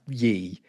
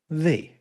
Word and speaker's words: ye: The Y is still that thorn letter. It's not pronounced ye. It's pronounced the.